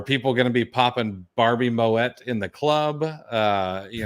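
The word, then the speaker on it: Moët: lvmh or Louis Vuitton Moet Hennessy and yes Moet is the right way to say that I looked it up uh if anyone thinks it's pronounced Mo uh like you're French you are wrong um but lvmh which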